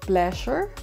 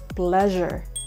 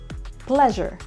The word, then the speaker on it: pleasure: similarly the next word is how do you pronounce this one it's not pleasure it's not pleasure it's pleasure pleasure word number ten how do you pronounce this